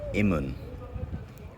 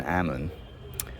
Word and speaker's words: Amun: about Ammon is that we're probably saying his name wrong. If you look at how it's spelled, we got a feather here, which is I, not A., This is MN and then the N is repeated. So transliterated it should be imun rather than Ammon.